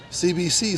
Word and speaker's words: Tse: leading off will be CBC the center fielder CBC stands for Caitlyn Bradley C it's got the